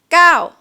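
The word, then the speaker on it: เก้า: say it's easier to just say like this gao gao it's like you yell gao gao rather than girl if that makes sense it's up to you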